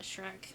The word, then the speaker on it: Shrek: it looked like Sheek I have pronounced it Sheek ever since because it was dery she I don't know what to think about Shrek movies cuz the first